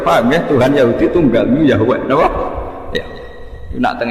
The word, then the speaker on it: Yahweh: Tuhan Yahudi tunggal Yahweh napa? Ya. Nak teng ejaan Latin Y besar A H besar W E H Yahweh.